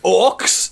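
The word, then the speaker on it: orques: They said, these aren't orcs, they're uruks.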